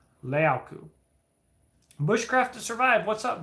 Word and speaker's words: leuku: A larger version of a Puco is called a leauku, but it looks like luku. It's like Leuku. But I spent a lot of time with them trying to say it right. Leauku.